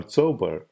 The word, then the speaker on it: Chaubal: Devyani Chaubal, or Chaubal, which would be the more authentic pronunciation of her name in Marathi, was a gossip columnist